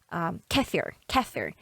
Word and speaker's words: kefir: As Joshua Weissman said, kefir, but in Russian it's called kefir. So it's a little bit different pronunciation.